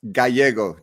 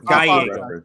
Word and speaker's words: Gallego: It's Gallego, Nick, just for Gallego. Yeah. Double L's, always pronounce it as a Y in English.